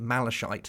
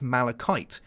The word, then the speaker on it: malachite: Not you dirty kiddies out there calling it malachite. No, it's malachite. Get it right.